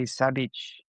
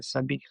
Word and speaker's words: Sabich: that's the problem, is when you see it written, it's Sabich, which, Mhm. because it's a sandwich, you want to say sabich, Yes. which sounds terrible. And the actual version say no one knows how to pronounce because it's the ch sound, right? The sabich.